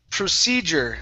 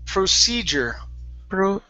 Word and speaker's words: procedure: Next word is procedure. Okay, focus on those R's. Procedure.